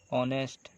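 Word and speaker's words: honest: यहाँ पे इसके साथ जहाँ पे एच साइलेंट हो और ए से शुरू हो, जैसे कि एन आवर, ऑनर, ऑनेस्ट। ये सारे वॉवेल्स जैसे अ से ही शुरू हुए लगते हैं। यहाँ पे एच साइलेंट होता है, इसीलिए यहाँ पे हम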